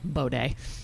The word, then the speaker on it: bidet: Bidet. That's how you say it in Indiana. Bidet. Like Versailles.